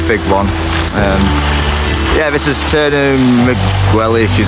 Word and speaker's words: Turnu Măgurele: So we're in Turnu Măgurele, to say it correctly.